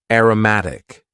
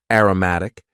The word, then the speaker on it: aromatic: Next, we had an adjective, aromatic. Aromatic. And please focus on the pronunciation here.